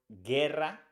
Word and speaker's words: guerra: in go for example with the word we pronounce this word Guerra because the EU doesn't have the two dots